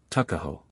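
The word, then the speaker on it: Tuckahoe: not belong to him Eastern Shore men usually pronounced the word Tuk as tuck tuo therefore is in Maryland parlins tuckaho but whatever may have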